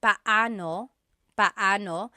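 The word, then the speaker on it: paano: It's technically pao pano. When there are two vocab or when there are two vowels together, you say them separately.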